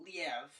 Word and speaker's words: Liev: Before we go into that, though, is it leave or live? I've always just said leave. I've always said leave. I don't think I've heard anything other than leave. I don't know if it's the E's pronounced. I've heard one or two people go Liev. Liev? But I immediately was like, I've never heard that. So it's not Liev. It's not a French.